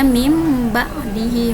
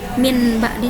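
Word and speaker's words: من بعد: ba bimbang dihimbau hamya Jadi dibacanya mimba'di Hindi bacanya ke huruf mim bukan huruf nun lagi bukan mimba'di Min ba'di salah yang betul mimba'di him to Hai terakhir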